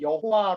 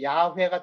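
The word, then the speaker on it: Yahweh: 어 옛날 에서 환경에는 여호와 로 되어있죠 여호와 내 뭐 그건 별 중요하지 않아요 얜 10 번역 발음을 그렇게 해서 그렇지 정확한 히브리어 발음은 야외가 더 가까움 야외에 하나님은 이거는 이제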